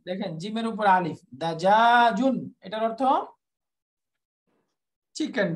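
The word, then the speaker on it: دجاجٌ: দাজা দাজাজুন, দাজাজুন দাজাজুন, সবগুলো শেষে তানবিন দিয়ে পড়বো আমরা, দাজাজুন লাহমুন।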